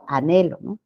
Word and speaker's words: anhelo: si no estuviera No ya igual sucede por ejemplo con la palabra anhelo sino es Anhelo anhelo listo chicos entonces veamos la